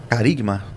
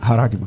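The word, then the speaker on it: χάραγμα: João, ele vai usar um termo grego, eh, carigma. É assim que pronuncia, eu creio que é assim que pronuncia. Haragma. Haragma. Exato.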